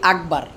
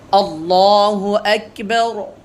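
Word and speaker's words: اللهُ أكبر: বললাম আল্লাহু আকবার আল্লাহু আকবার এই অনেকে বলি আকবার অনেকে বলি আকবার এগুলো মোটি শুদ্ধ উচ্চারণ নয় ভুল এখানে উচ্চারণ হোক কাফ আমরা উচ্চারণ করব আল্লাহু আকবার আল্লাহু আকবার এরপরে সুন্দরভাবে ধীরে ধীরে আমরা বলব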